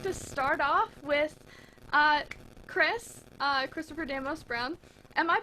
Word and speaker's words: Christopher Demos-Brown: So we'd just like to start off with Christopher Damos Brown. Am I pronouncing your name correctly?